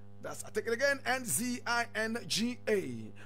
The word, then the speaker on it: Nzinga: is spelled N-Z-N-G-A. That's, I take it again, Nzinga.